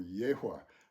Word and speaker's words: Yahweh: He was of the tribe of Judah, and the tribe of Judah was the tribe of Yahweh, or Yehweh, I think is how it ought to be pronounced, Yehweh.